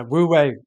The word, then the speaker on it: wu wei: How did you pronounce that? Yeah. Wu wei.